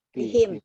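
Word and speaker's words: بِهِمْ: Nah, jadi sekali lagi, umpamanya kalau ada nih ada bi, bacanya jadi bi. Bihim. Bihim. Bihim. Bihim. Ya, kalau kemudian Ini majrur ya apa? Karena ada bi, himnya. Iya him karena dia awalnya adalah kasroh.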